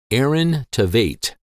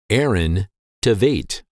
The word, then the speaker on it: Aaron Tveit: in high school his name is said or pronounced in American English as Aaron Tate Aaron Tate pretty basic now that you know once again the name of this popular actor is pronounced Aaron Tate Aaron Tate we'll see you again soon thank you